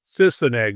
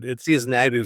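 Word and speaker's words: Sise-Neg: say, storyline about I don't know the right pronunciation, Sisineg. Sisineg, we said. Sisineg.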